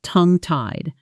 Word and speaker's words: tongue-tied: And tongue tied itself gets a heavy stress on the first syllable. Tongwide, not tongue tied.